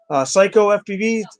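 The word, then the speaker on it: Cyco FPV: Psycho FPV, it's spelled CYCO.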